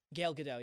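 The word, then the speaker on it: Gal Gadot: But then like Yeah, I thought uh Gilgado. Is that how you pronounce it? Gail GDO.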